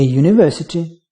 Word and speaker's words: university: A university, where U pronounced as Y, which is consonant.